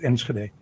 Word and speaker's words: Enschede: No, I'm in Utrecht at the moment, and Enschede is actually pronounced Enschede, but that's obvious. If you can speak Spanish, you can also say Enschede.